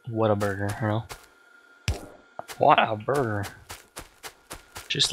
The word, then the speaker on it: Whataburger: And you say it like Whataburger, but it's Whataburger, you know?